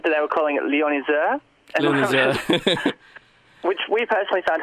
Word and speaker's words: Lionizer: It's just Lionizer. Oh, Lionizer.